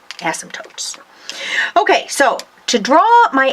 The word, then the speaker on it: asymptotes: then draw your asymptotes draw asymptotes silent P asymptotes okay so to draw